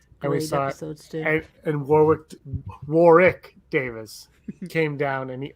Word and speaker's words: Warwick: that his name isn't warwick davis it's warwick davis did you know that you don't pronounce the second w yeah we learned that